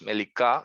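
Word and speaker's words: מליקה: Melicá, que hay que pronunciarla con Q y no con K. Melicá. Melicá. La kuf en hebreo tiende a sonar aquí muy abajo en la garganta, ¿no?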